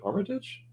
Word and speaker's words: Armitage: say it right so is it even Armitage Hermitage Armitage oh that's right well welcome welcome here